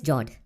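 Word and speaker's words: fjord: the next one is jord the f word is silent when you pronounce it these are a long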